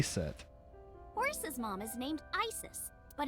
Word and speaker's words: Isis: horses mom is named isis but in ancient egyptian it's pronounced closer to isa or asa hmm how do i